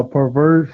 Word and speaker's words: Purverse: How do you pronounce it again? Pervert. Yeah, Perverse.